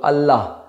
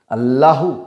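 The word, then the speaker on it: Allah: ওকে, যেমন একটা শব্দ আল্লাহ, এই পার্টিকুলার শব্দটাই কিন্তু লাস্টে এইচ আছে, আমরা কিন্তু হয় এখানে সাইলেন্ট। ওকে, আল্লাহু এরম বলি না, আল্লাহ।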